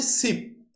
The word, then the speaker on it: ship: কোনো ভাওয়েলের উচ্চারণ প্রচন্ড লং, দীর্ঘ, আবার কোনো ভাওয়েলের উচ্চারণ খুবই স্মল। আমি দুটো শব্দ বলছি, তাহলেই তোমরা বুঝতে পারবে। একটা হচ্ছে সিপ, SHIP, ঠিক আছে, সিপ।